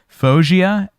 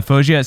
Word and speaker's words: Faouzia: is crystal clear yeah i don't even know phosgea fao i'll spell it out f-a-o-u-z-i-a yeah there you go uh phogia so fojia is uh an artist that is an ed